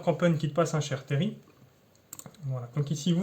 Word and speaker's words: terril: dans les parties précédentes sont chères terry et le elle ne se prononcent pas dans le nord il se prononce à paris donc le mineur campeurs